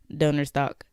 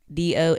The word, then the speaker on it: Donnerstag: But German, to say this, the German word for Thursday is Donnerstag. Donnerstag, I believe is how you spell it.